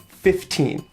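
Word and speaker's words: fifteen: or you could put the stress on the second syllable, 15. But most common, I think, is to put an even stress on both syllables. 15.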